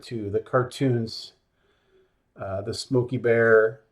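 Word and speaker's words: Smokey Bear: the cartoons uh the Smoky bear cartoons are all different and that is how you say that by the way it's not Smokey the Bear no point will you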